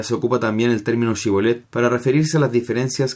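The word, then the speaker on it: shibboleth: Los de la tribu de Efraín no podían articular la palabra Shibolet, pronunciándola Sibolet.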